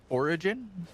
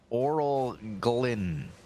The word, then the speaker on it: Orglin: This is not actually Origin. This is Orglin. Orglin. Is it spelled with an L?